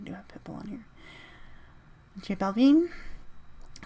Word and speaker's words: J Balvin: J Balvin. So J, like the letter J, Balvin.